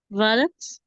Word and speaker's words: valet: This word is, valets, it's valets. valets. Exactly. Okay. Without S, it's valet. Okay? We Okay. notice that the T is written, but it is silent.